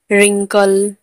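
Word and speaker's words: wrinkle: Wrong, WRONG, wrong, wrong, sorry, wrong, wrong में आर से पहले डब्ल्यू है तो डब्ल्यू साइलेंट है। Right, WRITE, right. Rap, refer, रिंकल, सब में आर के आगे डब्ल्यू है, मतलब पहले डब्ल्यू है तो डब्ल्यू यहाँ पर साइलेंट है।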